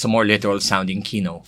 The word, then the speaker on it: Quino: you and you know here in the Philippines you guys know how to pronounce Kino yes a lot of places they go they go Quino oh there was actually